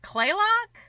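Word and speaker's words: Kalaloch: to pronounce things like they drop a lot of vowels so like clay Locke is actually kaal and I'm like you know there's an a between the K and L they don't care they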